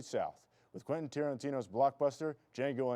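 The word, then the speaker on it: Django: with Quenton Tarantino's Blockbuster D Jango Unchained the D is silent the movie will be showing this Thursdays and Fridays at 8:00 p.m.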